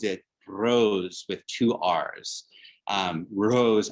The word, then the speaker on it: Rrose: Rrose, R-R-O-S-E, but it sounds like Eros, Eros, E-R-O-S Sélavy, Rrose is life.